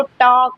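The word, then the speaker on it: talk: The children टॉक एंड, अब देखो यहाँ पर TAL के लिखा है ना, इसको टॉक नहीं पढ़ते, इसको टॉक पढ़ते हैं। क्या पढ़ते हैं? सिर्फ हम लोग यहाँ पर टॉक पढ़ते हैं। क्या पढ़ते हैं? टॉक पढ़ते हैं ना। तो ये ध्यान रखना है।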